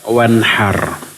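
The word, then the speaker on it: وانحر: yatim jangan kamu bentak kalau di sini dibaca falatanhar Maka jangan kamu sembelih antara H dengan H perbedaannya jauh sekali jangan salah mahroj jangan salah pengucapan jadi menyembelih diperintahkan wanhar salatlah kamu karena Rabu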